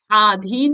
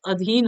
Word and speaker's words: अधीन: होता है ठीक है आधीन नहीं होता अधीन होता है देखिए पितांबर होता है